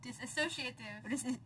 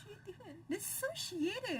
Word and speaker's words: dissociative: This I don't know how to pronounce it. Dissociative. Disassociative. Dissociative or this. Dissociative.